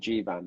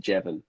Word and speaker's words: Jivan: I think there was one where Michelle Fairley pronounced the character's called Jivan, and she pronounced it wrong, pronounced it Jevon.